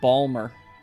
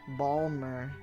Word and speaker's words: Baltimore: Baltimore core. You did not pronounce that correctly. I read it and it wasn't right. Baltimore core. Balmore core. It's Balmer. Balmer.